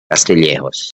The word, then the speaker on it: Castillejos: instead of J they they read it as age castillejos so that's one that's